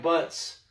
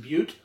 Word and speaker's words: Butte: And for Black Panther, the beer I chose was all these beautiful black butts. In what's that? It's actually pronounced Butte.